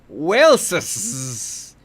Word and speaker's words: Waleses: According to Linda, it is pronounced Waleses.